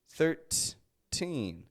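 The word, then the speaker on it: thirteen: 13. That teen is the stressed part of the word.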